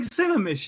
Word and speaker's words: Sammamish: that I can't really see it let alone pronounce it that's Lake Lake Sammamish you know that you know where something that's